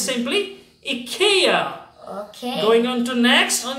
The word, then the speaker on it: IKEA: that's right people pronounce because most often people pronounce as IKEA which is wrong it's simply a Kia going on to next on your screen and